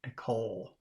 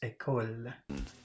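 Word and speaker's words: école: because he's doing the English L which is down in the throat but he's using his tongue at the front of his mouth or when when you say ecole I don't know if I'm saying it right but but that's what they say it should be like not a call English L is down here in the throat a coal but it's ecole number seven which one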